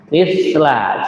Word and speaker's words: مثل: Ujung lidah kita tempelkan dengan ujung gigi yang atas ini, ya. Mislah. Jadi bukan 2 gigi tapi 1 gigi, ya. Maksudnya gigi yang atas saja, bukan ditempelin di gigi yang atas dan bawah, ya.